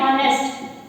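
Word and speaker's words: honest: अब शब्द है ऑनेस्ट, तो ऑनेस्ट में भी क्या है, एच वर्ड जो है वो साइलेंट रहेगा, इसे ऑनेस्ट नहीं बोलेंगे।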